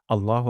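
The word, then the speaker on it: الله: আমরা তাহলে শুরু করছি প্রথম শব্দটি হলো আল্লাহ এখানে আ শক্ত করে উচ্চারণ করতে হবে এমন হবে না আল্লাহ এমন হবে না আল্লাহ তাহলে হামজা শক্ত তারপর ল এখানে এক আলিফ টান দিতে হবে এবং ল উচ্চারণ করতে হবে লা উচ্চারণ করা যাবে না আল্লাহ আল্লাহ লকে লা বলা যাবে না বলতে হবে আল্লাহ আল্লাহ তারপর হু আল্লাহু এখানে দুইটা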